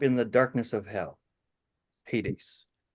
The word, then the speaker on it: Hades: Hades. Hades, it's pronounced in our English, Hades.